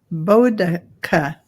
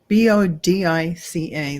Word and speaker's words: Boudicca: It's Boudicca. Bodica, Bodica. That's how it's pronounced according to Carolyn Booker.